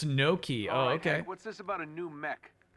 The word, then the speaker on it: gnocchi: start of the word gnocchi now? Gnocchi? Did I pronounce gnocchi right? Are we technically done since the achievement popped? No, there's two. There's 2 trophies I had to get today. It's no key.